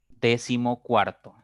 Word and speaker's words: decimocuarto: tiene cinco sílabas ahora la mayor fuerza la mayor intensidad está en la segunda sílaba contando de derecha a izquierda si la mayor fuerza